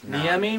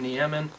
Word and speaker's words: Niemi: And in NHL11, they don't know how to pronounce his name. They call him Niemen, and we don't want that mispronunciation on our roster. I clearly lost on the enunciation of Finnish last names.